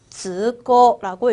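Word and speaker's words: 通行: 여러분 통행 어떻게 읽기로 했죠? 그렇죠. 즈고라고 읽어주시면 됩니다. 우리가 공부한 통, 음독으로 즈라고 읽어줄 거고요. 행, 고으라고 장음으로 읽어준다는 거.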